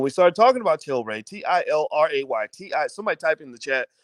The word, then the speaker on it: Tilray: started talking about children t-i-l-r-a-y-t-i somebody type in the chat because somebody's always like well how do you spell it is it tay ray toray toray t-ray it's tilray t-i-l-r-a-y that's one can of